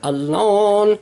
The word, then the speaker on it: Alan: Chester, Chester, Chester Arthur, Chester Arthur, Chester Arthur, Chester Alon. He pronounced his name Alan, but he pronounced it Alon.